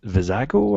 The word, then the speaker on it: Vizago: Sabine Stormtrooper and V vizago I keep remember the name wrong yeah the I always call him cilantro cilantro Bago but it's not cilantro um Wicket and Baker